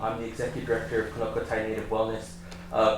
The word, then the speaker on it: Kno'Qoti: the executive director of kokai native Wellness uh konai is the the the proper pronunciation for the mountain which means two old